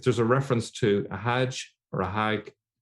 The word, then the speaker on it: Hajj: now what's interesting is the word Hajj is a direct Arabic borrowing from the Hebrew hag in fact in some arabic speaking countries including Egypt they still pronounce it as hag so it's directly from Hebrew Oden LaFontaine points out